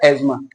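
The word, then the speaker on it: asthma: बोला जाता है, ठीक है, एक्चुअल में इसका प्रोनाउंसिएशन क्या है, एजमा।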